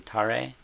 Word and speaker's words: tare: Ramen the esab um Etc and you're saying tare yeah so that's spelled just t a r e right okay